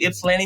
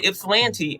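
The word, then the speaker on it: Ypsilanti: later i got accepted and i moved to ipslanny michigan and at the time i didn't know how to pronounce its landing michigan i don't know what i was calling it but ended up moving to ipsilanti and started my life here in michigan uh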